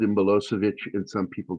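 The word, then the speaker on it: Milošević: It's Milosevic. Milosevic. There's an accent on the C to let you know that it's pronounced that way.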